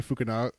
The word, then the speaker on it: Fukunaga: What it was is it wasn't Cary Fukunaga is how you say it.